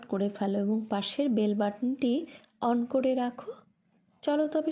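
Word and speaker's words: Bethune: ইহার নামের প্রকৃত উচ্চারণ বিটন, কিন্তু এদেশে বেথুন হইয়া পড়িয়াছে।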